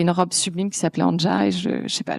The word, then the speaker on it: Anja: C'est un prénom slave qui veut normalement ça se prononce an mais je trouve que ça a plus de poignes anja et ça veut dire élégance et grâce.